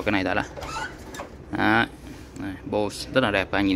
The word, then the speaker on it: Bose: Tiếp theo ở bên này là bộ Bose, Bo hay là Bo xe gì đấy. Em thì em hay đọc là Bose, Bose. Nó Bo nhá. Em hay đọc nó Bo.